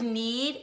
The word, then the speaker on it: knead: is eating the dough the word need is spelled K n EAD it's one of those silent K words maybe you could look